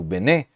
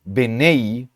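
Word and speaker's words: בְּנֵי: anterior, no nosso caso Bené, termina com uma vogal, com uma sílaba aberta. Se a pronúncia fosse benei, então essa palavra terminasse, né, com uma consoante, a consoante, sem vogal.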